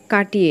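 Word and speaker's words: Cartier: কার্টিয়ে নামটা শুনে নিশ্চয়ই বুঝতে পেরে গেছো এটা ফ্রান্সের কোম্পানি, কারণ এখানে আর সাইলেন্ট আছে।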